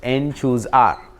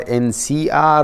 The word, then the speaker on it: n choose r: The notation for that is this: n choose R, right? It's called the binomial coefficients. N choose R. That's how it's pronounced. There is nothing called NCR or this stupid way of writing NCR.